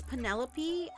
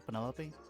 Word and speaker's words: Penelope: Is that short for Penelope? Officially, yes, but I never can be bothered with all 4 syllables of it.